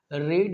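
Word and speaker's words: read: रीड we three करना है, होता है स्पेलिंग वो बोलेंगे रेड, ए बुक।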